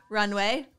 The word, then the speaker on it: RNWY: Anyway, this episode is, again, sponsored by Runway, RNWAY, no vowels. Mm-hmm. And you could pronounce it N-ray.